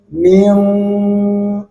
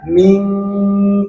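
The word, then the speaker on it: مِن: Kama kutibaalladina min bukan ming atau min apalagi begitu ya. Jadi bibir kita, mulut kita ini sudah condong kepada huruf qof.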